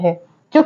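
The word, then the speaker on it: hedge: है जैसे वर्ड है हेज तो हेज में जो डी है वो साइलेंट है नेक्स्ट वर्ड है बेज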